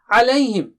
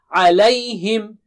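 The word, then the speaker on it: عليهم: Alayhim.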